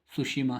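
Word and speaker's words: Tsushima: Next है हमारा सी of Japan, very very important, connects to east China C वाई सुशीमा straight, T इसमें silent होता है, सुशीमा स्ट्रेट कहा जाता है।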